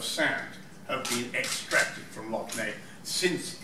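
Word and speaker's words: Lough Neagh: And you have these fantastic sites, like Loch Ney. I'm not sure if I pronounced that right.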